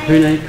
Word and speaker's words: Pune: Tell me I was pronouncing it in too English a way yesterday. Pune, right? Pune, correct. Ah.